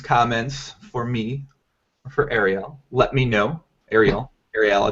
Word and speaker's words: Ariel: You say your first name Ariel? It's Ariel, but it gets butchered so much that, you know, I stopped caring.